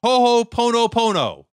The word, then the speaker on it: Ho'oponopono: Ho'oponopono.